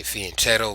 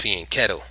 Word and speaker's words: fianchetto: the castle position this is your the afen feeling kettle setup right here both sides have done it some people say fianchetto what a dick is pronounced feeling kettle but that's neither here nor there now there's